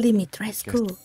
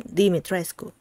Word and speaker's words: Dimitrescu: that it's correct, because some people from Romania, I think, have been saying that it's actually Dimitrescu.